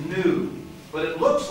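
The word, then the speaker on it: nu: it has the point that's the letter n in greek that's not a v that's an n and the name of the letter is new but it looks like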